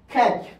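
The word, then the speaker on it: catch: পরে যেমন যেমন দেখেন খ্যাচ এখানে কিন্তু খ্যাচ টি এর উচ্চারণ হবে না সি এইচ এর পূর্বে টি টা কি সাইলেন্ট টি টা সাইলেন্ট এবার আসেন এস এর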